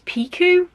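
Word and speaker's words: Jodi Picoult: peku I'm pretty sure I've always been saying it wrong I've always said P but it's piku I think um and I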